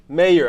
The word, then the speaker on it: Mayer: Am I saying it right, or is it Meyer? Meyer. How are you? Doing well. That Meyer thing. It's common. It's not like John Mayer. It was spelled differently, right? Yeah, he spelled the same. Is it the same? He says Mayer. Are you? He says Mayer. Yeah. And you say Meyer.